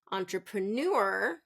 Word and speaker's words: entrepreneur: the first syllable stress we want to reduce it and really end strong with that entrepreneur okay how about environment